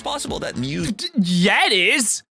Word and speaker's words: mu: mu you heard it it's pronounced exactly like the pokemon mu seeing as the average